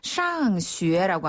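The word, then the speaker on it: 上学: 샹슈에라고 하면 학교에 가다라는 뜻을 가질 수 있어요.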